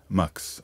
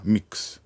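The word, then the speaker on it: Mx: 生まれたのが max という敬称ですマークスあるいはミックスと発音しますこの表現は現在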